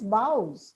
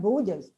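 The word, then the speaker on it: boughs: and she said oh this is bows in English not Bas naturally husband wasn't happy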